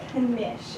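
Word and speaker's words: quiche: her Rose unwrapped a niche and took a bite and that's actually pronounced Kish it's a German food with a Russian root Rose un nap Kish and took a bite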